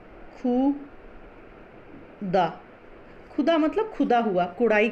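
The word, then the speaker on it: ख़ुदा: लेकिन अगर हम इसमें हम ख के नीचे में डॉट लगा देते हैं ऐसे, है ना, खुदा, तो ये क्या हो जाता है, इसका उच्चारण हो जाता है खुदा।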